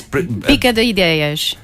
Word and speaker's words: Bica de Ideias: So, how would you pronounce that? It's Bica de Ideias.